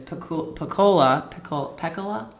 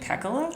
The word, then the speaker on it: Pecola: main character in this book, whose name is Pecola. I should have looked that up before we started recording. In my head, as I'm reading it, I have been pronouncing it Pecola. Okay. But it's Pecola, Breedlove.